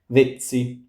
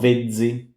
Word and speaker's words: vezzi: This is not vezzi, it's vezzi, vezzi. Unfortunately, when a Z is a Z or a Z is a little bit difficult, and you just need to learn the words themselves.